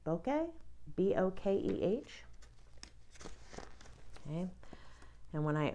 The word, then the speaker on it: bokeh: this month's technique i don't know how to pronounce that um bokeh bokeh b-o-k-e-h okay and when i open this up